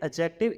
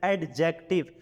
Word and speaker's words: adjective: about uh adjectives here first of all the D is silent and adjective it it should not be read as adjective here D is a